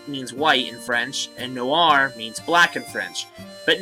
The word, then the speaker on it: Noir: I think I said Nore. It's Iris Noir. And this one is Iris Blanche. I believe is how you say it. Blanche. Blanche. They're French, which is what, and each one respectively means black and white.